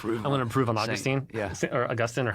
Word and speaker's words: Augustine: Augustine is in Florida and St. Augustine is in heaven.